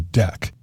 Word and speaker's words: deque: the name de queue pronounced deck so as to not confuse it with a verb about removing things from a queue it's really a double-ended